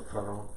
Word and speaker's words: Cuarón: Alfonso Cuarón. No, I was asking him, sir. Yeah. So he would try and badly pronounce. Wasn't gonna do it. Wasn't gonna do it. Also Cuarón.